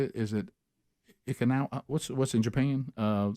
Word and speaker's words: Okinawa: Is it Okinawa? What's in Japan? Okinawa.